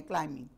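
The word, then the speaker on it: climbing: इज क्लाइंबिंग the mountain इसमें बी की sound नहीं है क्लाइंबिंग Sana is क्लाइंबिंग द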